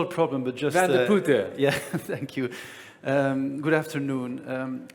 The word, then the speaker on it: Van de Putte: It's Van de Putte, a very difficult name to pronounce, but it's not a problem, but just... Van de Putte.